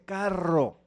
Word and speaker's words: carro: Entonces me dice, no seas bruto, no se dice caro, se dice carro.